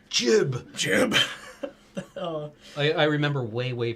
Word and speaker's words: GIF: It's pronounced jib.